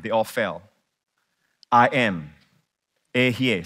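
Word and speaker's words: אהיה: Ehye. Say Ehye. I am. It is spelled like, the word is like this.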